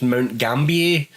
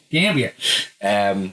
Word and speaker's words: Mount Gambier: And what I like to think is pronounced Mount Gambier, but being in South Australia, it's probably Gambia.